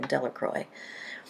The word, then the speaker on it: Delacroix: Harry Jones and Dicky Delacroix the villagers pronounced his name Delacroix eventually made a great